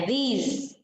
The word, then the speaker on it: these: Seperti ada z-nya bacanya ya, these.